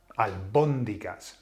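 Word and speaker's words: albóndigas: so the word for the word for um uh meatballs is albondigas albondigas so where's the emphasis on the o alas he was saying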